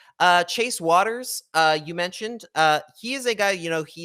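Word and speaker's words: Wouters: i heard booters so wuters is the uh is the is what people think it's pronounced it's actually apparently pronounced waters i learned that myself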